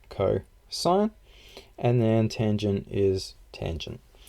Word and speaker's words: cosine: Right, you also have that cosine is pronounced like cosine, and then tangent is tangent.